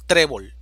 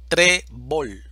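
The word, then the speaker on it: trébol: a fut fútbol ahora seguimos con trebol división silábica trebol sílaba tónica tre esta palabra termina en una consonante diferente de n o s por lo tanto exige el uso de la tilde en la vocal e trebol ahora tenemos revólver división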